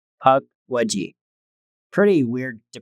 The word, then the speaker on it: Pukwudgie: Uh the story is about the creature called the puckwaji has it's pronounced like p u k as in puck and then wood rh mud and then j e. It's puck wedgie.